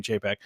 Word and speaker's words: Chapek: remember if what the right way to say it is chapek did I say did I say cha I don't know I don't even know what the right way is I don't care thought rhymes with paycheck I don't know paycheck